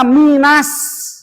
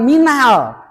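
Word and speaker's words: مِنَ النَّاسِ: Jadi membacanya minas bukan minal. Minas. Arrahman bukan arrahman namanya alif lam syamsiah minasamaai w kunna ma ada bendera tuh di atas ke depannya ada hamzah ya awas lagi.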